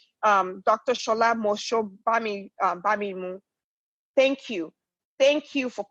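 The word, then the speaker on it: Shola Mos-Shogbamimu: you know I don't want to get her name wrong. Dr. Shola Bamimu.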